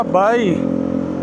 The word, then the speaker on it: Bay: Ah, Bay ano pong pronounce nito?